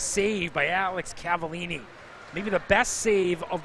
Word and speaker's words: Cavallini: the 29th see the hockey team pronounced Cavallini mentioned earlier in the broadcast we just warning us how it's Cavallini this is temporary number